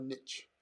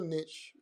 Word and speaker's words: niche: another tip when you choose a niche or a niche as you americans say choose a niche with a big problem